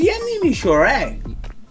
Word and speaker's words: የምሞሸረው: Come on, it's Yemimosherew. Yemimosherew. Bro. Yeah, Yemimosherew. Sure, what is sure? Eh? Shit. Yemimosherew. That's how you pronounce it. You put the O.